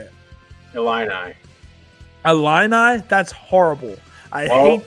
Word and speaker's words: Illini: Illini.